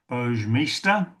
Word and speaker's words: Boge Mista: Now, Boge Mista 886 says, "Hi guys, my name is pronounced Boj Mista.